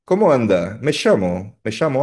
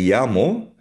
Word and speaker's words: llamo: Ang double L o double L ay binibigkas na parang Y, me llamo.